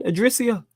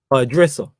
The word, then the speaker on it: Idrissa: Yeah, man, Idrissia. That's what man calls him. Because I can't, like when I pronounce his surname, it sounds wild, innit?